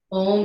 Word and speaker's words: Om: Om is the sound of all of life. It's vibrational. There's an ah, u, 3 syllables that all sort of meld together into this one vibrational sound, symbolizing all of life, beginning, middle, and end.